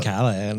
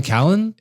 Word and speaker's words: Brian Callen: Like Brian Callahan. Why do you say it like Brian Callen?